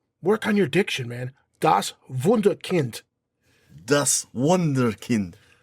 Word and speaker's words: Wunderkind: Das Wunderkind. Das Wunderkind. You're pronouncing the W like English. Das Wunderkind. Das Wunderkind. Kind. Alex. You gotta put that hard D, man.